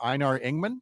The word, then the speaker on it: Einar Ingman: And you've got a particular anniversary this week for Einar Ingman.